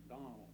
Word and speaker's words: Donnell: I believe you mispronounced it. It's Guy R. Donnell.